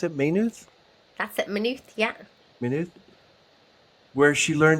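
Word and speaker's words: Maynooth: May is that how pronounce it? May. That's it. Manuth.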